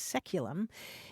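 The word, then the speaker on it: saeculum: c u luu m which in English is pronounced seculum it's traditionally understood to refer to the period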